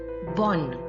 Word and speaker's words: bon: I'll repeat again that these consonants, the S added at the end of the plural form of the adjectives is silent. We will not pronounce this S. That is why the plural form also remains same in pronunciation with the singular form.